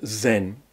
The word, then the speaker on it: Zen: in these countries and when Chan Buddhism goes in to Japan it's pronounced Zen now then you probably